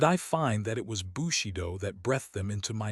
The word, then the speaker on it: Bushido: Pronounced Bushido.